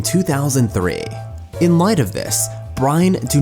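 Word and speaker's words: Bryne: had begun his own professional career Brian startings Brian which should be pronounced as such if you want to stay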